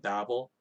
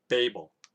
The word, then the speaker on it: Babel: Of course, if you call it Babel, that's completely fine. That's how we would pronounce it as moderns. But I remember when I was younger, just on a side note, that everybody would pronounce it Babel, the Tower of Babel, and I used to